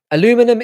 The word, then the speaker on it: aluminum: of us some somewhere aluminum is the American pronunciation aluminium is the original name of the element thank you for clarifying